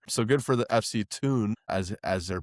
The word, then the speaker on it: Thun: It's Thun. The H is silent.